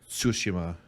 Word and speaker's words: Tsushima: tunishima to yeah like just put put the t and s like flow into each other like tsushima tsuchima ghost of sushima